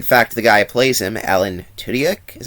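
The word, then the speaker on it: Alan Tudyk: pretty good in fact the guy plays him Alan tudak is how you say the name would eventually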